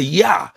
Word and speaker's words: Jah: of his name the yah it's either called yah or or Y or or um or J when you see Jah you see yah it's a short form